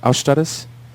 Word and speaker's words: Austaras: stars is spelled aus ta Ras it's correctly pronounced our status but we figure we just pronounce it like American the background of the name is it comes from Lithuanian mythology or technically Baltic mythology and our Stratis is a god of wind and storms at